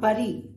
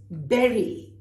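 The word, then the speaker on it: bury: Now the tough one, it's not buddy, it's berry. So in your mind, think of strawberries and any kind of berry which might help you remember. A lot of word pictures help you remember. So when I look at B-U-R-Y, I actually think of a berry.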